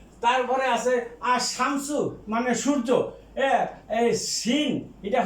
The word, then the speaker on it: الشمس: তারপরে আছে আর শামসু মানে সূর্য, এই সিন এটা হরফে শামসিয়া, এটা আগে যে লাম আছে উচ্চারণ হবে না।